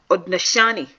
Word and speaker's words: Haudenosaunee: The Haudenosaunee and pronounced Haudenosaunee people describe it as the animals of the forest gathered for a great ball game. So the Haudenosaunee they are a confederacy of 6 different nations